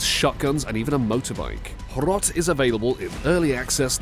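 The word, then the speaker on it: Hrot: Horot, and yes, that's how it's pronounced.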